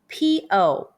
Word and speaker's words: po: And when you see Pinyin PO, the pronunciation is Po. Since the letter U is omitted in spelling.